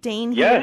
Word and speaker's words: Dain Heer: to be with you thank you am I pronouncing your your name right Dane here yes you're doing great thank you yay okay